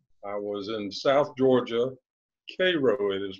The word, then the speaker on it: Cairo: I was in South Georgia, Cairo it is pronounced. Cairo, thank you.